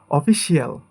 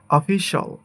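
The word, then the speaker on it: official: এটাকে বলি আমরা স্পেশাল, স্পেশাল, বাট এটা সঠিক উচ্চারণ হবে স্পেশাল, স্পেশাল, স্পেশাল, স্পেশাল। এটাকে আমরা বলি অফিসিয়াল, বাট এটা হবে অফিশাল, অফিশাল, অফিস।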